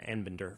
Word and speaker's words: Anbinder: I certainly said Arbinder a little bit earlier, but it's Professor Anbinder from George Washington University. And my apologies for the mispronunciation of your name, Professor.